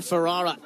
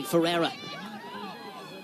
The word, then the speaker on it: Ferrara: Jennings getting in a tussle here with McKenna Ferrara excuse me Ferrara do apologize have been mispronouncing that game name tonight and the offside